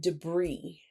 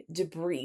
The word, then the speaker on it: debris: word is the word debris debris which is of French origin and therefore the S is not pronounced so debris is the remains of